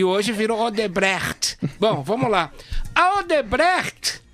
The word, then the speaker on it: Odebrecht: Odebrecht. Odebrecht. Gostou, Felipe? A questão é, a Odebrecht... Essa pronúncia é certa?